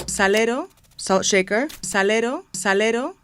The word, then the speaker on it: salero: spanish say the word salero salero salt shaker salero salero this r is made with a flap of the tongue on the ridge behind the front teeth that's not too far